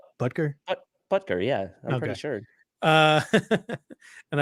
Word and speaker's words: Butker: It's like Butker, right? It's Butker. Butker.